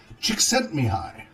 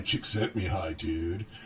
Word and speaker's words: Csíkszentmihályi: so it looks like me Haley but it's pronounced me hi mih a ly Csikszentmihalyi so if you want to hit and start me hi Csikszentmihalyi so ha so chick is si si que